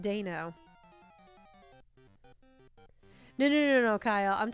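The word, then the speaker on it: Deino: it that's okay no you put dino yeah dino was originally how is how i said it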